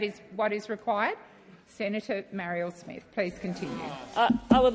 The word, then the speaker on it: Marielle: Senator Marielle Smith, please continue. I would love to. It's Marielle. Senator Henderson, through the chair, through you, Chair. That's how you say my name.